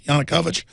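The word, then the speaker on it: Yanukovych: How do you pronounce that? Yanukovic. Am I pronouncing that right guys? Yanukovich. I am pronouncing it right.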